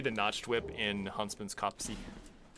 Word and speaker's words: Copse: It's going to be the notched whip in Huntsman's Copse. That's how it's pronounced, by the way. I uh I called Miyazaki on the phone before the stream and verified. He said it's not copes, and it's not uh it's not copes.